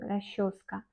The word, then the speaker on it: расческа: Расческа. Encore, on prononce расческа.